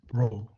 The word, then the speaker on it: rho: It's pronounced, okay, rho, okay.